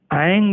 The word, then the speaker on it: ऐं: कि ऐंग करें कि ऐम करें। ऐंग भी बोलते हैं परंतु वो तंत्रोक्त है, उसमें तंत्र क्रियाओं के अंतर्गत तो ऐंग का उच्चारण होता है, वह भी सही है।